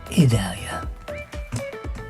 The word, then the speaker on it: Idalia: Oh, I pronounce like E. Idalia.